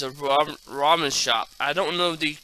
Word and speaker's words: ramen: It says ramen, not umen. ramen.